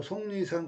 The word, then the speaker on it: 속리산: 이응으로 발음된다. 그래서 속리산 같은 경우에는 비음화가 2번 일어난다.